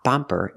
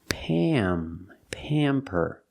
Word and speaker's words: pamper: We don't say pamper, but it's pamper. This is the short A sound before an M, or an N makes a special sound.